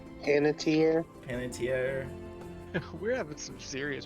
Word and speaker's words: Panettiere: She is played by Hayden Patier, just an older one. Hayden Pantier. Panettiere. Panettiere. We're having some serious pronunciation difficulties this session.